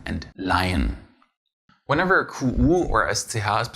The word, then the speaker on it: Leihen: If you have a H after an EE though, it does not make it longer, but belong to the following syllable. Good to see by the words Reihe and Leihen.